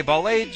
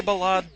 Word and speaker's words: Ballade: I say Ballade, you say Ballade, let's call the whole thing off.